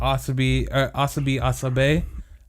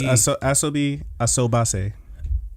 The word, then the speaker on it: Asobi Asobase: I watched, okay, so I finally got to start the Asobi Asabe. I think that's how you say it. Asobase. The first one is Asobie. Yeah, it's Asobi Asobase. Asobi Asobase.